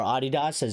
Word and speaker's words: Adidas: people at Snapdragon and Adidas, or Adidas, as the Europeans like to pronounce it, yeah, we might lose those deals.